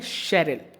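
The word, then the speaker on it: Cheryl: है शेरल ठीक है इस वर्ड का करेक्ट प्रोनंसिएशन होता है शरल तो इसे चरल ना पढ़कर शेरिल पढ़ना है ठीक है शेरल तो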